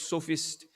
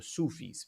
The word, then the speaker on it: sophist: They were known as the sophists, not the Sufis. People tend to kind of mistake the pronunciation. They were known as a sophist.